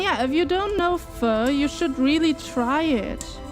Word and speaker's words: pho: And yeah, if you don't know pho, you should really try it. And yeah, it's not pronounced po or po. It's not pho, it's not po, it is pho. So you ask it like a question.